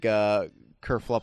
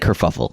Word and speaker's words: kerfuffle: Kerfuffle, whatever. How do you pronounce that? I think kerfuffle. Yeah, kerfuffle.